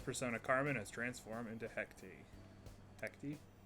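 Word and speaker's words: Hecate: carmen has transformed into hectic hecti that's how she pronounces it in game that doesn't mean i'm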